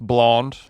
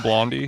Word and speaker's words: Blondie: it's called He thinks it's pronounced blond and not Blondie. He's like He gets He gets a little like confused with the IE at the end.